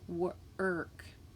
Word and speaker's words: work: Work is not, it's spelled with OR, but it's not saying OR, it's actually saying UR. So that's a different sound. Work.